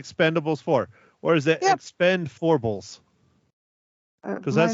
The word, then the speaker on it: Expend4bles: that's right instead of an eight but it's Expendables four is how I am pronouncing it if you have some time go